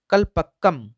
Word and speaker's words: कलपक्कम: हो रही है मैं, लेकिन फिर से इसका प्रोनाउंसिएशन कर देता हूँ। कलपक्कम कलपक्कम परमाणु विद्युत गिरी।